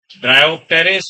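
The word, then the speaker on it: Pteris: टेरेस अच्छा ये देखिए पी से शुरुआत होती है तो उसको आप पटरिस नहीं बोलेंगे जैसे हम बोलते है साइलेंट होता है को बोलना नहीं है ना टेरिडोफाइटा या रिस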